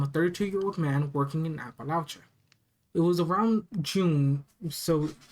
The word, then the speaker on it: Appalachia: I was pronouncing it right. Appalachia.